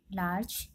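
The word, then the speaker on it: large: पहले जी आया है, ई से पहले जी आया है, इसलिए इसमें हम इसका उच्चारण लार्ज पढ़ेंगे।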